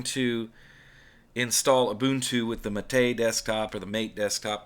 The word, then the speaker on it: MATE: install ubuntu with the mate desktop or the mate desktop whatever you call it i don't care i call it mate because that's what wimpy calls it and he developed the